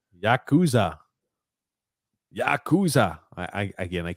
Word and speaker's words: Yakuza: comment here uh from uh Mario says it's pronounced Yakuza Yakuza I I again I can't read I